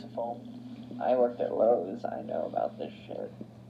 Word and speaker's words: Lowe's: My friend pronouncing it Laos the other day, saying she wanted to get a job at Laos, and I was like, what are you talking about?